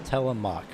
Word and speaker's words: Telemark: I've just gotten the pronunciation. It's Telemark. So, Telemark.